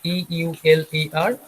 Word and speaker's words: Euler: can see the spelling it is written as e u l e r but the pronunciation will be euler okay so mathematician euler